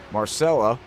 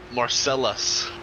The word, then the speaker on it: Marcellus: Marcella, did I say it right? No, Marcellus. Marcellus, yes. Yeah, see, that's not gonna. Like Marcellus Bennett, like played football.